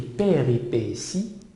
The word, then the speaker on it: péripéties: Alors, les péripéties, ça s'écrit avec T et ça se lit S.